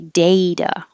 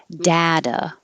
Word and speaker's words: data: the middle splotchy and this can be said two ways so i put it on two different lines to show the two different vowels so it can be data with an a or data with an a same